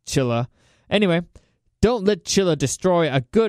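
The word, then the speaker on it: Cilla: It's C-I-L-L-A. It's not C, yeah. I think it's Chilla.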